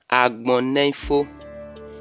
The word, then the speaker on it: Agbonifo: The correct pronunciation of this name is Agbonifo, meaning the word has no end.